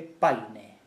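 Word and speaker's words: Payne: Posteriormente todavía se publica el libro del hispanista norteamericano Estanislao Jorge Paine. Yo lo pronuncio literalmente porque me da la gana de hacerlo así.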